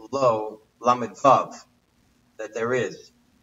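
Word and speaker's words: לו: I mentioned what I told the other night, the word lo, lamed vav, and lamed aleph. They're both pronounced the same, but there are a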